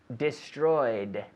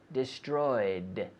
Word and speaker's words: destroyed: destroyed. Destroyed. With the D sound, destroyed, but no extra syllable. That is, not destroyed. No.